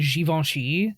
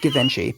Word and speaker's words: Givenchy: The judges were Balmain and Givenchy. It's pronounced Givenchy, but go ahead. It's fine.